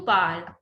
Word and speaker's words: parles: Tu parles. S is silent.